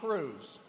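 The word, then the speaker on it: Crews: We are also very fortunate today to have with us a professional registered parliamentarian from Dallas, Texas, Kay Allison Cruz. Now, just so we're clear, Cruz is spelled C-R-E-W-S, so there's no relation to the senator from Texas.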